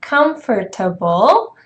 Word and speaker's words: comfortable: So this word would be pronounced as comfortable, right?